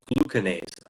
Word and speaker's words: glucanase: The body in its intelligence, it starts secreting an enzyme called glucanase. I'm pretty darn sure that's the correct pronunciation.